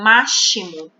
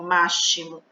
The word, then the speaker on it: máximo: Máximo. A gente não fala máximo, a gente fala máximo.